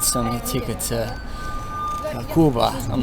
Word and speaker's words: Quba: Not Cuba. Quba. So, spelled like Q, say like a G. Quba.